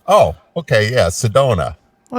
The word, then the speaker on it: Sedona: sister yeah Sedana geeeez is it Sedana it's Sedona oh okay yeah Sedona well it's pretty obscure